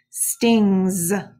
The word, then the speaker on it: stings: that's our glued sound stings sounds like a Z but it is suffix s so you should have